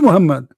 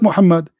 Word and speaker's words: Muhammad: do you say is how do you say it correctly Muhammed Mohammed Mohammed Abdullah this is his name not Mohammed what Muhammed do is Muhammad by the way his name is not Mohammed his name is Qasim